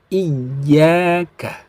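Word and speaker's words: إِيَّاكَ: Jadi bacanya i tambah ya menjadi iya. Seperti itu. Coba 1, 2, 3. Iyyaka.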